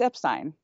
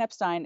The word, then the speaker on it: Epstein: about pronouncing an Epstein the correct way to pronounce it it's Epstein Brian Epstein is the correct way to pronounce his last